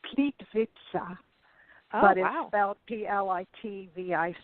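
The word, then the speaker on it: Plitvice: there and I can't I don't know it's pronounced pleat pizza about plit VI C II and it is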